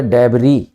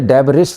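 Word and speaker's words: debris: का English word है डबरी स्पेलिंग में एस आएगा आप तो लेकिन आप इसे डेरिस नहीं बोलेंगे the accent this word is डबरी एस साइलेंट रहता है इसके अंदर तो सरकार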